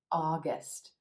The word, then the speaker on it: August: for picnics and parties August August another two syllable month here with emphasis on the first syllable and the aw as